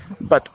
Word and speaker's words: but: pronunciation of put, P-U-T, is like oh, put. But when we come to like but, B-U-T, but, say put and but. Why? Because of the phonetics.